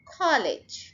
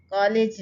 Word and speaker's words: college: College, कॉलेज नहीं, college. First syllable को stress करें हम.